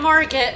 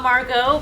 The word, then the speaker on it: Margit: Yeah, we have to fight Margit, who's Margit and not Margot, but might be Margot, I don't know. Legally distinct. They're all Margot, it's fine. Got? Did you pronounce the T at the end?